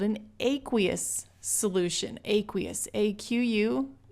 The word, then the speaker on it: aqueous: Aqueous, A-Q-U-E-O-U-S, aqueous. Depending on where you are in the world, this could be pronounced aqueous.